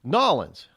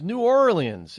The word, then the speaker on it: New Orleans: have decided to leave nollans I said it's not nollans mom it's New Orleans and she goes that's